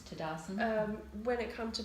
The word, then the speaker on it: Tadasana: instead of asana and the proper pronunciation of Sanskrit is to actually pronounce the a on the end hmm so that was